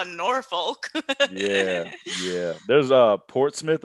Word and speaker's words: Norfolk: going to be like norfolk what the they don't pronounce the all the letters in that in their words norfolk norfolk no north